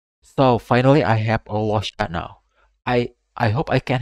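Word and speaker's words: Luocha: So the next character is Norsha. Not Norsha, Losha.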